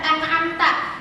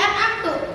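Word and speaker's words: أنعمت: Contoh, di dalam surat Al-Fatihah ini ada lafaz an'amta. Di situ artinya nikmat yang telah engkau berikan, nikmat yang telah Allah berikan. Kemudian ada orang yang membacanya menjadi an'amtu.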